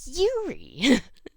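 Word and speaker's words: Eurie: It's spelled with an E. Like Europe, but you're shortening it. So, like, E-U-R-I-E. So, like, Yuri. but it sounds like Yuri.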